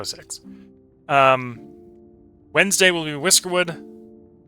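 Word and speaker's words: Syx: Um, and and by six, it's S YX. I'm can't quite get the pronunciation of that X out there. Sykes or whatever you want to refer to it. I go six.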